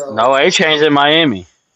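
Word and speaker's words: Etienne: I know we've been saying ETN his whole career, but is it a chain, too? Right. ETN. It is. No, it's Achain.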